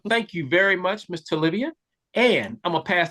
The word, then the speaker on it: Tolivia: My artist name is pronounced Tolivia, yes.